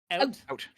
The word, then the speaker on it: out: See, that's the thing is some people say that we say oot, but we don't say oot. Oot is like maritime. We say out. We pronounce the OU pretty hard, but it's not OO noise.